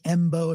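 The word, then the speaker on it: Mbow: So Marcus and and his name's Embo if you're searching for him, like MB, but the M is silent.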